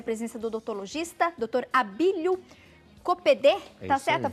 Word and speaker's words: Coppedê: Abílio Copedê. Tá certa a pronúncia?